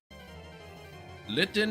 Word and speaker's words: Litten: Litten is a dog. Litten's no dog. It literally rhymes with kitten.